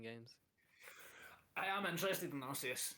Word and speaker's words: Arceus: I believe they said it's officially Arceus Oh, so I said it right.